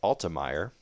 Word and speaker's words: Altemeier: Again, that's pronounced Altemeier.